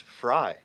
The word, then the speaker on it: Frey: something for Sarah though my last name is fry oh fry why did they the sheet they gave me is f r e y y yeah that's how you pronounce it I I pronoun